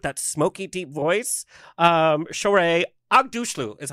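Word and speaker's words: Aghdashloo: And one of my favorite all-time actresses, she's that Persian woman with that smoky, deep voice, Shore Agdushlu is how you say her last name.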